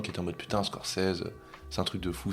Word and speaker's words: Scorsese: Mais non, c'est vrai qu'avec Scorsese, c'est la vraie prononciation. Martin Scorsese.